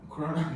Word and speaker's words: Krona: Swedish, how to say this? Krona? Krona? Yes. Sounds like a beer name. Corona.